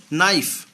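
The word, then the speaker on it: knife: কে এন আই এফ ই নাইফ, K silent.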